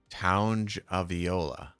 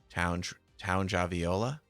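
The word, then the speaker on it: Tagovailoa: Townge Aviola. Townge? Does it rhyme with lounge? Townge Aviola? Tua Townge Aviola.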